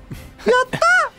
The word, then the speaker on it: Yata: Say it like Hero from Heroes. Yata!